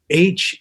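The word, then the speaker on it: HAIM: really good how you spell the the it's h a i m it looks like H but it's pronounced H they're really good uh stuff can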